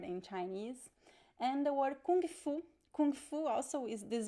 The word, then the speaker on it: kung fu: But in Brazil, how we pronounce it? Remember the G sound? Kung, kung fu, kung fu. So there is this G sound at the end.